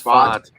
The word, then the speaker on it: Pfaadt: I think it's Pfaadt. You mean I like you're saying fart. Pfaadt.